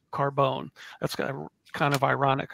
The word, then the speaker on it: Carbon: Philipe bourier de Carbone his last name is spelled c a r b o n but pronounced Carbone that's kind kind of